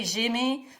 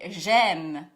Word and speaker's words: j'aime: Make sure not to say j'aimais, but instead say j'aime.